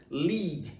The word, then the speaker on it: League: Então é o L e o I, li, e o E, o U e o E não são pronunciados, ele é silencioso, então só vai terminar no G.